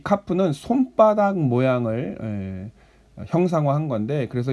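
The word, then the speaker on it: כ: 자, 처음에 11번째 자음을 우리는 이제 카프라고 합니다. 카프.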